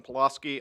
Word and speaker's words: Pulaski: mmm next we have Nathan Pulaski polo ski did I pronounce that correctly okay I wasn't sure